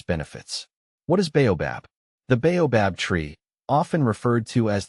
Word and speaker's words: baobab: The name is pronounced as baobobab. The emphasis is on the first syllable and the bab is pronounced softly.